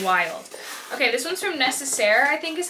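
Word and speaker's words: Nécessaire: Okay, this one's from Necessaire, I think is how you say it. I used to say Necessary, but I think it's Necessaire. They sent me the Body Acne Wash.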